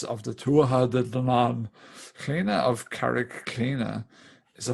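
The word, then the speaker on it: Clíodhna: yeah, the best way you're going to spell it if you're from, say, the States or Australia is Cleena, is like the anglicized way to say it, I suppose.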